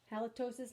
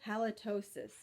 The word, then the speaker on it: halitosis: life of me halitosis I have to keep like going back to its lot like mitosis I guess it rhymes halitosis mitosis okay yes so horrible halitosis alright we all read